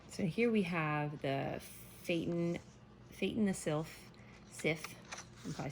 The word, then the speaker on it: Phaeton: So when this is not reversed, I was saying it wrong, it's Phaeton the Sylph.